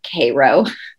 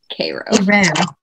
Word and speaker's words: Cairo: georgia in south georgia but they call it cairo cairo hero it's cairo georgia oh yeah absolutely 100